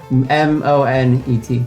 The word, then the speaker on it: Monet: ends with a T with the silent T. Monet.